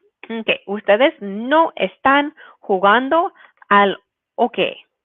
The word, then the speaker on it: hockey: Okay, ustedes no están jugando al hockey. Remember that H is silent in Spanish. You don't pronounce it, even though maybe you say, oh, that looks like the English word hockey.